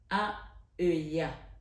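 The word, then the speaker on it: Haheuiah: Ce soir, sur 21 avec Marie, ce 10 septembre 2024, nous avons l'ange Aheuya. Aheuya. Ça s'écrit H-A-H-E-U-I-A-H.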